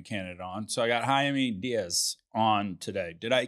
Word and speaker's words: Jaime: was great uh jaime so the thing with jaime is it's jamie in english right but uh in spanish the j's and